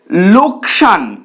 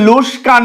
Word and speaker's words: লোকসান: যাচ্ছে উচ্চারিত হচ্ছে তরোয়াল তারপর লোকসান এটাকে অনেকে লোস্কান বলে অর্থাৎ যেখানে সঠিক শব্দে ক আগে রয়েছে স পরে রয়েছে কিন্তু ভুলভাবে উচ্চারিত হয়ে স আগে আসছে ক পরে চলে যাচ্ছে চলে আসছি তার পরের